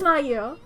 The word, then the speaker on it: Mayu: That's Mayu. That is that her name? It was two syllables. That's right. It is Mayo.